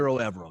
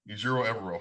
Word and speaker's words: Ejiro Evero: So it's Ejiro Evero. That's how you pronounce his name, by the way? Just trying to make sure I get it right. Ejiro Evero, yep. Ejiro Evero.